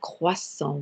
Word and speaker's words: croissant: don't you in english and croissant we don't sound the t though there in fact